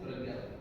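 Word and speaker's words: Pañña: Spelling P-N-N-A, but its pronunciation is Pragya.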